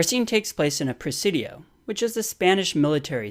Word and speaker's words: Presidio: takes place in a presidio which is the Spanish military settlement and Presidio rhymes with coccidio so that's a good way to remember it and recalling this drawing